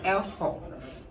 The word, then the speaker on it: Ehonam: Yeah, it is spelled Ezo, but it's pronounced Elho.